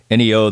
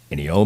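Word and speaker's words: Ennio: things he's done so that documentary is called Ino the Maestro e n ni i o and it's about Ino moricone I think it's I think the last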